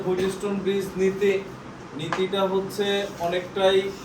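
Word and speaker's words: Wheatstone: দেখো এখানে একটা ট আছে, দেখো বাট এই টটা উচ্চারণ কম হয়, এই জন্য অন্য কালি দিয়ে লিখছি। তুমি যদি বলো হুইটস্টোন ব্রিজ, হবে না? তা না হবে। আর নরমালি ওই টটারে হালকা সোয়ায় যাওয়া হয় যে হুইটস্টোন ব্রিজ। বুঝছি আমরা? মানে ওইটারে উচ্চারণ করবা যাতে কেউ না বুঝে তুমি ছাড়া।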